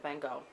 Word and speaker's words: van Gogh: is the letters of vincent van gogh that's how we pronounce it here and i think in france so how many million